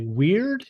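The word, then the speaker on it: wyrd: the book uh and I think I'm pronouncing it correctly weird is that right w-y-r-d yeah um and this ties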